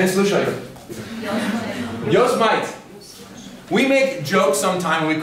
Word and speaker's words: Yosemite: Yosemite. We make jokes sometime, we call it Yosemite.